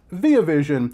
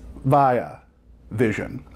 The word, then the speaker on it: Via Vision: over at via vision not be a vision which is how i pronounced it in my last video in which i discussed the fly ultimate collection blu-ray set it's via vision now Qube is a